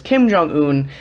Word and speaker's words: Kim Jong-un: His name is Kim Jong-un, or at least I think that's how you pronounce his name.